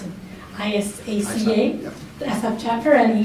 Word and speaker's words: ISACA: And he's a recognized audit professional, thought leader, and he's on the board of directors for, how do you pronounce it? ISACA, Yep.